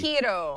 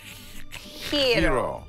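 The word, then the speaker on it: Giro: Hiro. G-I-R-O. Right. Hiro. Hiro. Hiro. Hiro. Like. Who would have thought? Because, see, the G is pronounced like an H in the. It's pronounced Hiro.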